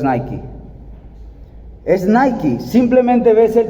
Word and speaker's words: Nike: Cuando tú ves el símbolo, viene a tu cabeza, es una marca, es Nike, se pronuncia correctamente. Nosotros decimos Nike, pero es Nike.